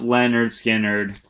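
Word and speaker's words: Lynyrd Skynyrd: so there you go len skinner pronounced leonard skynyrd as my number 10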